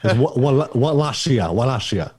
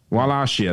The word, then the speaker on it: Wallachia: Is that how you pronounce it? Wallachia. Wallachia, there you go.